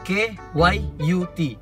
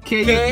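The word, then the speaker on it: Kyut: Jadi K-Y-U-T, K-Yut, itu je lah. Dari situ lah dapat nama. So bukan cute-cute lah. bukan pasal cute. Oh, sebab pronounce yang betul dia Keyut lah. K-Yut. Dia Oke.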